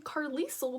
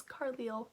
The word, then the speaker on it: Carlisle: i was like okay so i was saying carlisle the whole time i was reading the book going that's a funny sounding name but it was carliel so i said that name wrong that was an epic